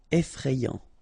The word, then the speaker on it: effrayant: Effrayant. Amusant. Final T not pronounced.